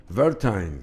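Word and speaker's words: Werthein: que los medios argentinos dice, ellos pronuncian así tal cual, ¿verdad? Entonces, Guillermo Weiter renuncia un gran amigo. Verteim, Verte es en alemán, sería así.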